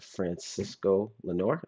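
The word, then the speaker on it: Francisco Lindor: at the right time uh shout out to Francisco Lenor that's how you say his name I met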